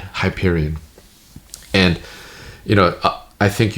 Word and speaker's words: Hyperion: And then I I looked it up and it's supposed to be said Hyperion.